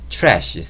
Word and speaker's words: trash: 트래쉬라고 제가 적어 놨는데 t와 r이 만나면 치읓 소리를 내요 치읓 소리 제가 영상 초반에 말씀드렸는데 영상 초반에 d와 아리 만나면 지읒 근데 지금은 티와 아리 만나면 치읓 소리를냅니다 그래서 트래쉬라고 하기보다는 조금 더 미국 영화에 가깝고요 뭐 나는 그게 조금